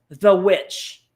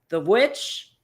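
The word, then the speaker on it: The VVitch: and you like scary and mine mine F the witch spelled with two v's the witch I thought we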